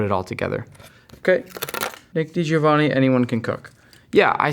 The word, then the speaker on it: DiGiovanni: If you split my last name into two different ways, it's DiGiovanni. So that makes it easier to think about DiGiovanni if you put it all together. Okay, Nick DiGiovanni, anyone can cook.